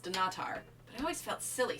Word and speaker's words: Dunnottar: I apparently never pronounced dunnottar castle correctly apparently it's pronounced do not are always felt silly saying it that way dunnottar seemed to flow off